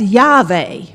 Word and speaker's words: Yahweh: That's Yahweh." You may have heard that name, right? Yes. And in fact, the name Yahweh takes the vowels of another name of God, Adonai, and pronounces it to the unpronounceable name